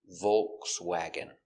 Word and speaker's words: Volkswagen: Another pronunciation for Volkswagen. VV O. V with a dark L. V V C V S VW Volkswag Volkswag Volkswag Volkswag Volkswagen. Volkswagen. Some people say Volkswagen with the L sound.